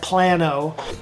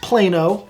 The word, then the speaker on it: Plano: Plano is more established sometimes people call it Plano idiots but it's pronounced Plano it's more established you drive through some of